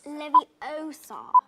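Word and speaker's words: Leviosa: Osar, you're saying it wrong. It's Levie Osar, not you do it then if you're so clever.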